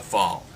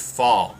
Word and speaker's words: FAL: I've heard fall and fal, but most people affectionately know it as the fail.